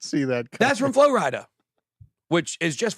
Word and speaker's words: Flo Rida: see that that's from Flo Rida which is just Florida if you didn't know yeah yeah Flo Rida just is Florida mispronounced which I love mispronouncing